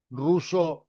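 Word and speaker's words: Rousseau: ruso que se escribe r o u s otra vez s e a u no me convienen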